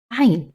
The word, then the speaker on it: Ayn: Ain. So the Ain comes from the space between your tongue and above your voice box. So it's in the middle of your throat.